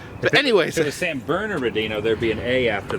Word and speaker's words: San Bernardino: that san burn there's another R in it San Bernardino and there's no burnt is burner Dina san burners and Bernardino San Bernardino okay the are silent but anyway so the San Bernardino there'd be an a after the second are